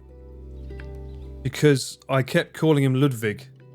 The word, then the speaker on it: Ludwig: All this fucking time, someone was like, I had someone a long time ago chastising me because I kept calling him Ludwig, not Ludwig.